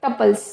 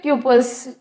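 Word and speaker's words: tuples: इसके बाद हमारा 6th डेटा टाइप है टपल्स या फिर ट्यूपल्स, कैसे भी आप प्रोनाउंस कर सकते हैं।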